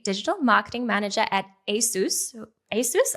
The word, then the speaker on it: ASUS: ASUS? I've recently learned how to pronounce that, Dean. Am I doing it right? Yeah, great. Okay, good to know.